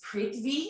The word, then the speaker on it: prithvi: I'm not sure it's prithvi. I'm not 100% sure how to pronounce it, but it's P-R-I-T-H-V-I, mudra.